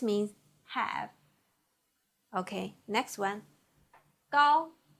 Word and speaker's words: 高: 高 g ao with first tongue, 凹高 g ao 高 Please repeat.